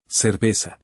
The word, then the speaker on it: cerveza: In Mexico, and in all of Latin America, the letters C before E or I, the letter Z, and the letter S are all pronounced the same way, as a plain S. Listen. Cerveza.